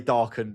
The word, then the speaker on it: Darcan: On Instagram it's Aaron_darcen or Dar I'm not going to pronounce it the proper way. I'm going to I'm going to say Darcen because it's easier to understand what I'm Even though I did pronounce it right.